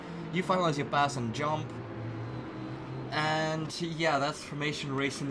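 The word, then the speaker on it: Djump: see another spin by Jump. D-Jump. Yeah. Is it Jump, or do you say the D? He says it. He says with a silent D.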